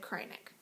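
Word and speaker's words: Kreinik: heard from them that they say it's supposed to be said cry neck from the manufacturer that's how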